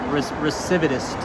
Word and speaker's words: recidivist: Recidivist. Wow. I think I might be pronouncing it incorrectly.